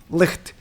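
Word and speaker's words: Licht: German girlfriend so he's this name is in German okay she was like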